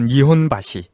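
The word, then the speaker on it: 日本橋: 건가요 있습니다 예 일본어로 니혼바시 어 니혼바시 많이 들어봤죠 예 들어보셨죠 사실 일본 교라는 말보다는 이제 니혼 바이라고 왜냐면 일본 교라는 한자를 니혼 밭이라고 읽은 건데 그 지역을 다 니혼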